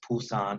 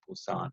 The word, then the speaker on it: Busan: with a B and Busan spelled with a P are both acceptable and people don't usually argue if someone says Pusan or Busan so it's the same